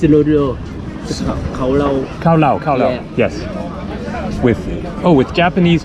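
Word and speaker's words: cao lầu: special is summation how do you say this cao lau the names allodial Carlo Carlo yes with Oh with Japanese Chinese and French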